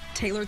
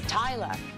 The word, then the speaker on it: Taylor: pronounced in different countries, because up north here in America it's Taylor, and then in the south it's Taylor, and then it's in Australia it's Tyler, and then in England it's Taylor.